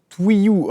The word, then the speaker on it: Twilou: Twilou se prononce Twiyou. Ah d'accord, oui c'est vrai qu'il y a 2 L, je voyais pas bien, exact,